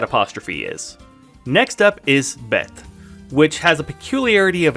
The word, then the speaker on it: bet: It's called a desh, and that means that it's pronounced with a hard B sound, like bane, which means sun.